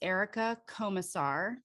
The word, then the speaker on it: Erica Komisar: like this one today our guest today is erica comassar did i pronounce that correctly you did okay she is